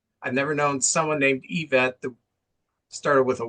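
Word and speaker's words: Yvette: Well, I've never heard the name Yevet or Yevet in my life. It's I've always heard EVET and it's spelled Y V T.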